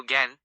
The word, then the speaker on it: জ্ঞান: জ্ঞান শব্দের সঠিক উচ্চারণ হল জ্ঞান জ্ঞান। শব্দের শুরুতে জো জ প্লাস য় থাকলে সাধারণত তার উচ্চারণ গ্যা বা গ্যা এর মতো হয়। জো বর্ণটির সাথে আকার থাকায় উচ্চারণটি অনেকটা জ্ঞান নেজেলি মডুলেটেড জ্ঞান এর মতো শোনায়।